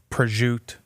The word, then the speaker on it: prosciutto: Nothing makes me more mad than whenever they don't pronounce the vowel at the end. Prosciutto, mozzarella.